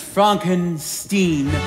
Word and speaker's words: Frankenstein: That's Frankenstein. My name is pronounced Frankenstein.